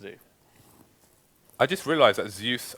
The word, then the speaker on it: Zeus: I just realized that Zeus rhymes with goose have you heard that